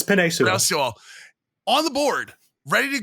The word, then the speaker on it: Penei Sewell: But they also had Penei Sewell on the – I don't know how to pronounce his name wrong. Yeah, it's Penei Sewell.